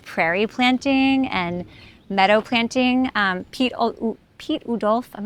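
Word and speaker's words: Piet Oudolf: planting and meadow planting, Pete Udolf, I'm not sure I'm saying his name right, Pete Udolf, I think is how you say it, does really beautiful perennial gardens.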